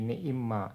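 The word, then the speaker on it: نعمّا: Tapi bacanya jadi ni'imma. Nah, kalau seperti itu dia berarti ma-nya bukan isim mausul.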